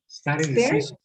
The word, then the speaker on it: stare decisis: ¿Cómo se pronuncia, profesor? Stare decisis.